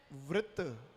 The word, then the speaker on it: वृत्त: वृत्त। अब आप इसको व्रत पढ़ दोगे तो गलत हो गया।